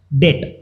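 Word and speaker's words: debt: अ documents और acknowledge डेट। अब acknowledge डेट क्या होता है, डेट मतलब होता है कर्जा, जिसको हम लोग डेप्ट भी बोलते हैं, इसको डेट भी बोल सकते हो आप, ठीक है, प्रोनाउंसिएशन में।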